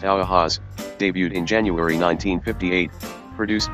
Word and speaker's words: UAZ: Central Asia and Eastern Europe the u-az 450 pronounced Aloha's debuted in January 1958 produced by yulian of